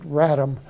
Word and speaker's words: RATM: Article 19 it says ratm we all pronounce it Ram uh and everybody in